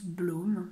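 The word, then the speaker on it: blóm: chaîne appelle blom woerth blom qui est un peu de comptes prononce blum d'ailleurs mais donc blom qui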